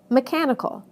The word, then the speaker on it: mechanical: However, the following suffixes do change word stress. Listen to how the stress moves right to the syllable immediately before the suffix. Adding "this" to major, it becomes majority. Adding this to educate becomes education. Adding this to economy becomes economic. Adding this to mechanism becomes mechanical.